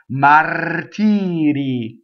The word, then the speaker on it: martiri: Okay, martiri. Two different R's in this word, right? You have mar, touching the T, tiri, flipped R.